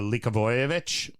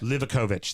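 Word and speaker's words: Livaković: penalties as well but uh likovic the keeper look of it likovic ovic livakovich thank you it's the all the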